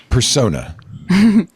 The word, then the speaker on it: Persona: We call it persona, but look, however you want us to pronounce, as long as you're saying our as long as you're saying it, you can pronounce whatever you want.